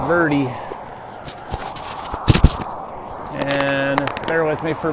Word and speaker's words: Verde: lovely town of Kemp Verde we ask the locals how you say it last night it's not Verde or bird it's birdie and they're with me